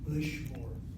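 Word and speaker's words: לשמור: Accent, less called for before, is always the last syllable of the word. Lishmor.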